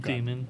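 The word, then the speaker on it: daemon: Did they convince you to pronounce it Damon too? No, it's Oh, God. demon. It's always going to be demon.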